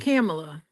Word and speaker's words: Kamala: I think I started getting it right when I started thinking about Pamela. Mm, Kamala, mm, right? mm-hmm. Like Pamela. That's how I got her name right.